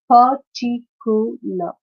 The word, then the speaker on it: particular: Particular, particular. Then catastrophe. Again, philosophy, right? It's a four-syllable word, and the stress is on the second syllable of the four-syllabic word, like intelligence, particular, catastrophe, and philosophy.